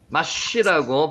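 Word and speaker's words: מַשׁ: 마지막에 마스입니다. 마스. 마쉬라고 발음이 나고요.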